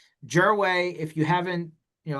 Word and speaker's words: Gerwai: this is how you this is how Jerway spells his name, right? Geer wii, right? You probably like, oh, wouldn't have figured that out phonetically."